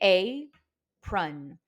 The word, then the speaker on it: apron: The first syllable is open because it is only the vowel A. So we say apron.